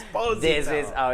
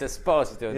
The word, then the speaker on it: Esposito: Esposito, how are you? Oh, fine. I'm sorry, but it's Esposito. No, it's not. Nah, No, it's nah. not. It's Esposito. It's Esposito.